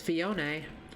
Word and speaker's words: Phione: I didn't think to pronounce it as fion anymore because my brain cuz now Claire was like the Katakana says fion and I'm like well